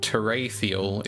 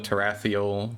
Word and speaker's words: Terathiel: full uh it is not wide knowledge that terial is the correct original intended pronunciation I get a lot of teral teral I don't really care all so more